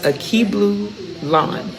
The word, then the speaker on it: Akeblulan: And again, I have Miss Akeblulan. That's how you say her name, Miss Akeblulan.